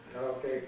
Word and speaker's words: karaoke: Now why karaoke? Well, we impose an English stress pattern on it. We take this O as the stressed vowel.